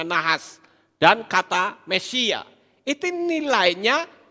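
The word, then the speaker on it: נחש: Nah sekarang kita lihat kata nahas, ya, nahas, nun, het, shin, ini membacanya nahas, dan kata Mesia.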